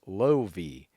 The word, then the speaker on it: Lovi: The Fergie took to Instagram to share photos of her baby girl, writing Lovi Levine Palvi, and then a pronunciation in brackets, Lovi.